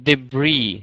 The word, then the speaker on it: debris: sh Aviation okay so the word uh debris no s in the end debris debris deis tragic